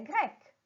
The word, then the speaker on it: grecque: La prononciation est la même. Je vais dire il est grec, elle est grecque.